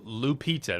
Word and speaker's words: Lupita: So, Lupita, that's how you say her name.